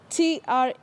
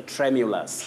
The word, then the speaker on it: tremulous: I'll spell it out. TREMULOUS. How do we say that word, Willis? Oh, that is a tremulous.